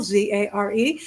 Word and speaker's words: Zare: The last name rhymes with care. It starts with a Z for zestful, Zare.